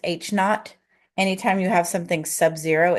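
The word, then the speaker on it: H₀: of this this right here H subz is pronounced H not anytime you have something Subzero it's h notot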